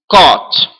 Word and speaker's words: caught: Catch, caught. E aí vocês falam, professor, mas é um A, mas pronuncia como O. Caught.